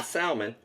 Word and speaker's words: salmon: rebased the salmon salmon now salmon there's no l in the pronunciation so that was my